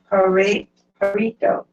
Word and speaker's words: Pareto: Wilfredo Pareto. The E is pronounced.